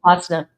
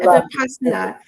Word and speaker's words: Vipassana: So, Barbara, you pronounce it for me, please. Vipassana? Oh, Vipassana. Yeah. Okay, Vipassana.